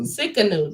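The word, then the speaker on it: Tsidkenu: I always say Sikkenu. Sikkenu. That's exactly how you say it.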